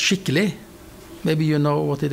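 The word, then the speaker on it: skikkele: have the word s-k-i-k-k-e-l-e which is uh it's pronounced shitley maybe you know what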